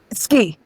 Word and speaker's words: Sci: You pronounce C, right? Ski.